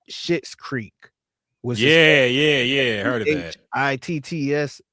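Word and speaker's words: Schitt's Creek: But I guess it is pronounced Shit's Creek.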